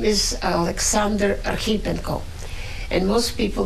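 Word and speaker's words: Archipenko: came from Ukraine and his name is Alexander Areno and most people mispronounce his name and they say archip Peno right here in Denver walking woman 1812 typical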